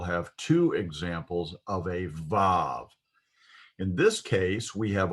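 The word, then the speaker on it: ו: the holland vav again our study guide uses wow instead of because those scholars believe that in biblical times the vav consonant was pronounced as a w sound rather than a v sound but i'm convinced that the vav was pronounced in biblical times as a v sound and it continues to be pronounced as a v sound in modern hebrew today so this is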